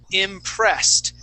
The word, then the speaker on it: impressed: The next word is impressed. If it ends with a S sound, that ED is going to sound like a T.